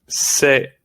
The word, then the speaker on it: C'est: C'est, we use it for it is. Okay, it's very important to know. C'est, pronunciation is c'est. Don't say anything else.